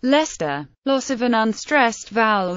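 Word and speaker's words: Leicester: english gloucester pronounced Elster English Lester pronounced Lester loss of an unstressed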